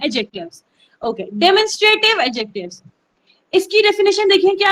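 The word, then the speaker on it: demonstrative: तो इट्स डेमोन्स्ट्रेटिव, नॉट डिमॉन्स्ट्रेटिव, okay. तो डेमोन्स्ट्रेटिव adjectives, और ये एडजेक्टिव नहीं है, एडजेक्टिव्स। जो डी है उसको बहुत मिमल सा करके पढ़ना है, एडजेक्टिव्स, ओके। डेमोन्स्ट्रेटिव एडजेक्टिव्स, इसकी डेफिनेशन देखिए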